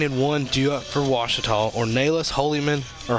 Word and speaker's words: Ouachita: university back in texas everybody pronounces it wichita but really it's ouachita washington baptist university get